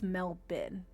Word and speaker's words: Melbourne: think only four out of like 30 people pronounced it as Melbin.